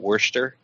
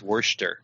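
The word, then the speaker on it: Worcester: Shire just they've got Wurster because it's because it's because it's named after a town workers from an interesting no it's no the town's werster werster okay and Shire over there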